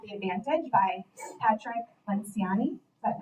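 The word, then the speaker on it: Patrick Lencioni: This one that Renae recommended is called The Advantage by Patrick Lenciani. Is that how you pronounce it?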